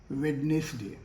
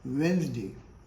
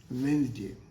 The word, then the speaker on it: Wednesday: Generally हम लोग कहेंगे वेडनेसडे, है ना? तो वेडनेसडे भी गलत प्रोनाउंसिएशन है. What is the correct one? Correct pronunciation of this word is Wednesday. I repeat, correct pronunciation of this word is Wednesday.